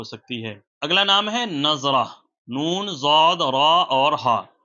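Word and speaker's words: نضرہ: سے بہتر ہو سکتی ہے۔ اگلا نام ہے نظرہ، نون، ضاد، را اور ہا۔ آپ اس کی درست اسپیلنگ جو ہے وہ اسکرین پر دیکھ سکتے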